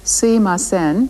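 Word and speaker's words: すみません: We've heard sumimasen used before as a way of apologizing, but here it's used as a polite way of attracting a person's attention. People sometimes pronounce it suimasen, as Jan did, but in either case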